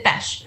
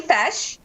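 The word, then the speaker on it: feis: I think you mean fesh. So we pronounce them feshes. F-E-I-S is pronounced fesh, but that's a local competition.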